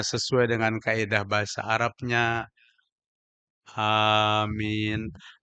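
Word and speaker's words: آمين: Amin. Alif itu 2 harakat karena di atas alif ada barisnya cagat. Mim dengan nun ada di pertengahannya huruf ya, menandakan min 2 harakat lagi.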